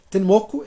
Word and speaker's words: Tenmoku: partir do século X ten moco é a pronúncia japonesa de tmu uma montanha famosa ao